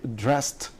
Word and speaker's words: dressed: which is voiceless well so it is voiceless so the dressed yes i dressed i dressed yes not the dress the yes not the dressy dress but dressed so here the e.d is pronounced good the third example